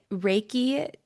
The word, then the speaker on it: Reiki: And you're a Reiki healer. Did I pronounce that right? Yeah, you got Reiki, it. Reiki.